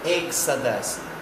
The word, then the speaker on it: Exodus: Ele se pronuncia Exodus, Exodus, Exodus, que traduzido é Êxodo.